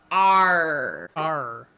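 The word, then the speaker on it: AARRR: And it is pronounced R R.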